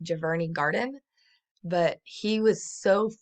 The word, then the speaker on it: Giverny: the lily pond in his, I think it's pronounced Giverny Garden, but he was so fascinated by this garden that he created hundreds of paintings inspired by this garden.